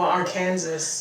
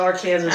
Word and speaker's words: Arkansas: Witchah area, um Oh, our Kansas. Yeah, they pronounce it our Kansas or at least the at least the river. So, if you ever happen to come to Witchah, Kansas, and you say Arkansas, they know you aren't from around.